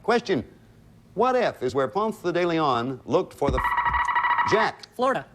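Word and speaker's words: Ponce de León: want to block question what if is where panther de leon looked for the jack florida fountain of youth florida is right it's it's pronounced punts daily on i said punk because i had something in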